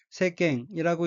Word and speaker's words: 世間: 셋째 줄에 어휘는 한자가 한국어로 세간이고 각기 인간세 사이간짜이고 일본어는 새깽이라고 읽으며 새깽은 세상이란 뜻입니다.